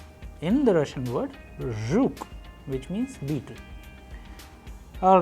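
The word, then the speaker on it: жук: And in Russian we have used another example like zhuk, zhuk. You pay attention to the pronunciation which I am doing here, so that you master this particular sound.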